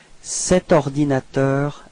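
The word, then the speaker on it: cet ordinateur: it's set all right so you pronounce it like set ordinator a share okay so actually no pose no break between the set and ordinator all right so let's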